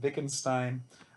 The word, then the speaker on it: Wittgenstein: It has a W in front, but it's pronounced like a V. So Leibniz and Wittgenstein, their goal was to kind of solve this problem by crafting the perfect language.